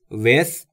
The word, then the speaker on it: with: دوستان تلفظ th در with رو هم باید دقت داشته باشید. With زبونتون پشت دندونهای بالا سعی میکنید بگید سه سمیه.